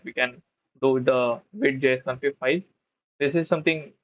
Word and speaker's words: Vite: Vite is a French word which means a quick, pronounced just like Vite, and is built tools